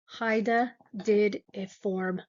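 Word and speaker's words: hydatidiform: So types of hydidform moles that's how you pronounce that hydidform moles.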